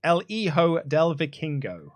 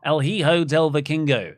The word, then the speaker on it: El Hijo del Vikingo: El Hijo del Vikingo." El Hi- El Hi- Hijo El Hijo del Vikingo. El Hijo del Vikingo.